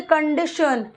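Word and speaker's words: condition: क्या डी श श यहां पर टी आई ओ टी आई ओ एन को पढ़ेंगे टन ठीक है कंडीशन श ठीक देखि कंडी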